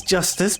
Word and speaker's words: Justice: Apollo Eustace. Yes, that is his name. Apollo Eustace. That's justice. Better learn how to say it if you ever want to get some.